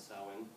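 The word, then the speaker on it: Samhain: Kels um they celebrated a a holiday called sawin it's spelled way off but that's how to pronounce sawin and it was a celebration of the Harvest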